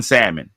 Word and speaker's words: salmon: I'm telling you right now, I judge people who pronounce the L in salmon. I judge you.